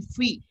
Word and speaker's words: fille: FILLE we pronounce as in free. Free.